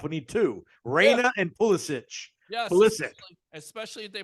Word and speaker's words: Pulisic: Is it Pulisic? Is that how you pronounce it? Yeah. Okay. Pulisic.